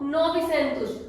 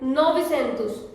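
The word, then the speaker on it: novecentos: Next is the number 900, 900, 9 को हम बोलेंगे novi, 100 को बोलेंगे centus, so novicentus. We have 900, Portuguese में novicentus, okay?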